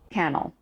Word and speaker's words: Kannel: It is a pleasure to welcome author, educator, and historian Jeff Cannell. Correct. Yes. We did a little session on pronunciations before.